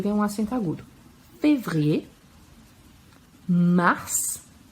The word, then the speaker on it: mars: Février, mars, e a gente pronuncia o S, mars, avril, com L bem